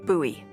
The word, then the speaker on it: Bowie: out this huge Rusty Bowie knife it's actually pronounced buoy what no it's like the last name like David Bowie last name buoy are